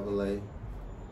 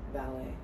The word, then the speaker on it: Valee: are what's up what's up i go by valet a lot of people say that wrong with this man so that's how you pronounce it a lot of people think it's pronounced ballet yo valley so when did you have to